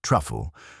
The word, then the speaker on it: Trifle: The owner, Sir Mvin Trifle, pronounced truffle, though he always corrected people after they had mispronounced it, had invited a select group of house guests for a modest fate.